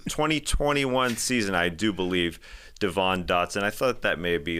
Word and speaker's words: Devon Dotson: Did I whiff his name, Devon Dotson?